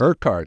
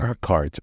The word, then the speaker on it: Urquhart: I I'm not going to be able to pronounce Urquhart. It's a Scottish name. Urquhart. Urquhart.